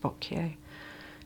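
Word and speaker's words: Botkier: a brand called bot I think it's pronounced bot b o t k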